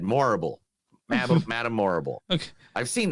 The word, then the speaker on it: Morrible: Michelle Yeoh has reportedly boarded the Wicked adaptation in a key role too as Madame it's Madame Horrible, but with an M instead. Morrible.